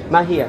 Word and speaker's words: Mahia: Mahia, how do you spell that?